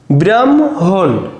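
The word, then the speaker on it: ব্রাহ্মণ: দেখো হ যোগ ম এমন যদি আমাদের বানানে থাকে উচ্চারণে কি লিখবো প্রথমে ম হসন্ত তারপরে হ যোগ হ ম হ হসন্ত যোগ হ দেখ উদাহরণ ব্রাহমণ তো দেখ এখানে কিন্তু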